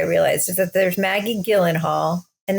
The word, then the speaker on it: Gyllenhaal: I realized is that there's Maggie Gyllenhaal, and that's with a hard. I think it's G, Jill. Right? I think it's Gyllenhaal. Yeah. Gyllenhaal. Okay. Actually, I've heard the most correct pronunciation is Gyllenhaal. That's not even a bit. Like that's like I don't believe you. Like the real Swedish pronunciation.